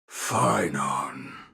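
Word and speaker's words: Phainon: Phynon.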